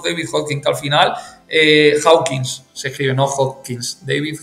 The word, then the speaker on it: Hawkins: que incluso ha fallecido, que se llama David Hawking, el doctor David Hawking, que al final, Hawkins, se escribe, no Hawkins, David Hawkins, que al final Hawkins.